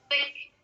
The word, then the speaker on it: thick: Bacanya thick. Lidahnya digigit di depan.